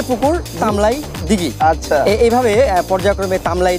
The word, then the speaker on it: তামলাই: আমাদের এলাকার, আসলে আমাদের এলাকার মানুষের একটা ইয়ে আছে, ঠাকুরের অঞ্চলের বা আমাদের এই পীরগঞ্জ অঞ্চলের মানুষ রকে অনেক সময় ল বলে উচ্চারণ করে। আচ্ছা আচ্ছা, এই যে আঞ্চলিকতা, তামরাই থেকেই। জি জি জি, তামরা লটাকে অনেক সময় ল বলে উচ্চারণ করার কারণে তামরাই থেকে তামলাই উচ্চারণ হয়ে গেছে, এটা তামলাই দিঘিতে